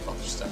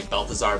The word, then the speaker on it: Belteshazzar: I don't know exactly how to pronounce it, but I say Belteshazzar, so. Some people say Balthazar, but it's spelled very differently from Balthazar.